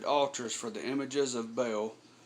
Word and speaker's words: Baal: for the images of Baal um or Baal I've heard it pronounced but Bale is how I pronounce it and set up Asher